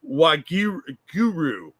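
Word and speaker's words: Waheguru: I I just looked it up and she's mispronouncing it it's wag Guru it it means uh that that's how they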